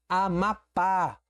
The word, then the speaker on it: Amapá: Amapá. Oxítona, última sílaba tônica, terminada em A, leva acento.